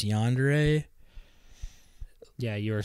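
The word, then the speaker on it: yandere: don't even know how to say if it's yandre yeah you are saying it correctly my favorite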